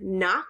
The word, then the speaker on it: knock: will have so like in the word knock like knock knock knock you don't hear the k you would just hear